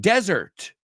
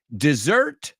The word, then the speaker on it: dessert: Also, be careful with the pronunciation of the word dessert. You were saying desert. Desert es el desierto. All right, so dessert, dos S's, y se pronuncia, vamos todos juntos.